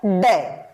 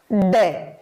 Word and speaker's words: ड: शुद्ध उच्चारण होता है ड दोबारा बोलेंगे इसका शुद्ध उच्चारण होगा ड न कि इसका इसका डे अब डे से कुछ